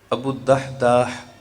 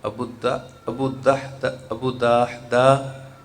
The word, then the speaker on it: ابو الدحداح: تو صحابی رسول حضرت سیدنا ابو الدحداح، اس کی سپیلنگ آپ سماعت فرما لیں، ابو الدحداح صحابی ہیں، دال الف ہا اور دال اور ہا۔ انہوں نے بارگاہ رسالت